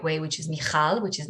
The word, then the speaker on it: Michal: appropriate like in the right way which is michal which is not easy which i really appreciate